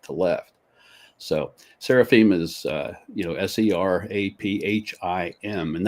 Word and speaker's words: seraphim: So seraphim is, Seraphim, and that I-M ending, pronounced im, it means that the word is plural.